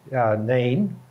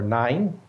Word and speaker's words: Nain: And one of those is the widow's son in the town called Nain, or Nine, depending on your pronunciation.